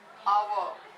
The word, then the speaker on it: hour: The word honest, our. These words are starting with the letter H, right? But when you pronounce it, you say honest. H is silent.